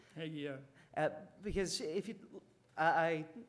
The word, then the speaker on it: Hagee: Am I pronouncing his name correctly? Hagee, yeah.